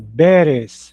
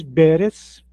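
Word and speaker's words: ברז: Nesse caso aqui temos a palavra beres. B. A o consoante do meio aqui é o reche, é o R. E a última aqui do lado é o zin, é o Z. Perz.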